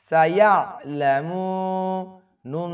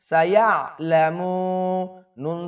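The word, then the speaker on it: سَيَعْلَمُونَ: মিম ওয়াও পেশ মু সাইলামু নুন জবর না সাইলামুনা কাললালামু এখানে সকলে ভুল করে সাইয়ালামুন বলে আইনের উচ্চারণ প্রায় 90 পারসেন্ট লোক ঠিকমত উচ্চারণ করে না ইয়াইয়া খেয়াল করুন কাললা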